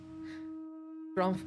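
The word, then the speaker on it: Gromph: because it sounded like Ralph and I just wanted to be sure it's not Ralph.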